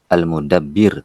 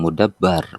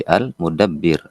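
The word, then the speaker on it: المدبّر: pencipta arraziq pemberi rezeki almudabbir tadi Anda dengar bacanya ada yang mudabbar bukan mudabbar tapi almudabbir karena ini failnya pelaku yang mengatur ya Kal mudabbar yang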